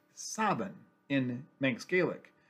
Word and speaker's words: Samhain: city used to be called Samhain, spelled Samhain, pronounced Sabin in Manx Gaelic, Saven.